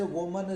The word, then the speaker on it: woman: इसी तरह से वुमन स्टूडेंट का वीमेन स्टूडेंट्स कर दिया। यहाँ पर ध्यान दीजिए कि WOMAN का प्रोनाउंसिएशन वुमन होता है और WOMEN का प्रोनाउंसिएशन वीमेन होता है।